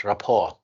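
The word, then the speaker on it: rapport: yes you are right at first we have double p and in this case we are going to pronounce only one p okay ra then at the end of the word we can see the as silent t okay so here we have one p and t so we don't pronounce them it's just rapor okay the students don't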